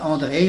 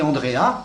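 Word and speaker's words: Andreae: Alors on dit André si on le prononce à la manière latine et quelquefois on dit Andréa pour faciliter parce que c'est plus commode à prononcer que André.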